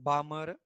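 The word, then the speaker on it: Balmer: तो Lyman series, second लिखा बाल्मर series, Lyman बामर L silent, पाश्चन ये जब भी एग्जाम होगा ना तुम्हारा आएगा किसी एक को एक्सप्लेन करने के लिए।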